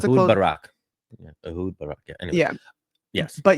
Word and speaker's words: Ehud Barak: backed by former Israeli Prime Minister, I can't pronounce that, Uad Barak, right? I don't know which one. Yeah, keep going. Yeah. It's fine. But yeah, so just to Ehud close, Barak. Yeah, Ehud Barak.